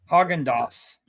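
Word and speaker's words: Häagen-Dazs: got hogen or what is it haen is it hog or haen I think it's hogendos I've always heard I never I can remember remember if the two dots above the a mean like a long a or a a sound yes hogendos hog andos okay so hogas yeah and they actually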